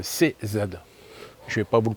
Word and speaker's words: CZ: C c'est Z. C'est pas Zeg. C'est pas un Zeg, c'est un CZ.